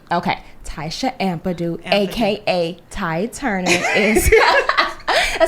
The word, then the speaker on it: Ampadu: the last name is pronounced Ampadu. Okay, Tysha Ampadu, aka Ty Turner, is a celebrity wardrobe stylist and costume designer to the stars.